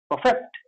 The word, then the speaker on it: perfect: Now what happens when we use it as a noun, when we pronounce it as a noun then the word stress will come on the first letter and it will be pronounced as perfect, not perfect.